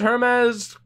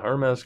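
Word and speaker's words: Hermes: on the road against Herman's pronounced hermas Kokkola yeah our mess Coca Cola as far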